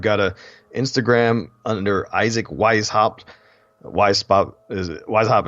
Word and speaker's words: Weishaupt: social feeds I've got a instagram under isaac wise hopped why spout is wise hop is spelled w e is h au PT it